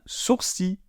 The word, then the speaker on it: sourcil: On ne prononce pas le L. On ne dit pas gentil quand il s'agit du masculin. On dit gentil. Eh bien là, c'est pareil. On dit un sourcil.